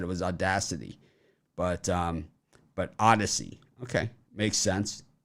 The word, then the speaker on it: Audacy: So the Audacy app is pronounced Odyssey.